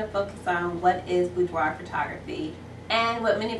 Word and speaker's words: boudoir: And this blog is going to focus on what is boudoir photography. And what many of you asked is, how do you pronounce it? Well, it's a French word and it's pronounced boudoir, boudoir, and it translates into a woman's private dressing room or bedroom.